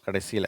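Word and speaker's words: catch: இந்த TCH அதை ஷ் அப்படின்னு சொல்லணும். இட்டும் இஷ்ஷும் சேர்ந்த மாதிரி. சில பேர் இட்டும் இச்சும் சேர்ந்து படிக்கிறாங்க, டிச்சு அப்படிங்கிற மாதிரி. அல்லது வெறும்னா இச்சுன்னு படிக்கிறாங்க. இங்கே உதாரணத்துக்கு நான் சொல்கிறேனே, இந்த வார்த்தையை சில பேர் என்ன பண்ணுறாங்க, அப்படியே பேட்சுன்னு படிக்கிறாங்க அந்த இச்சு உச்சரிப்போட. சில பேர் இட்டும் இச்சும் சேர்த்து பேட்ச் அப்படின்றாங்க. ஆனால் அது இட்டு ஷ் வரணும் கடைசியில். நான் வாசித்து காட்டுறேன். பேட்ச், கேட்ச், லேட்ச், மேட்ச், வாட்ச். சரியா?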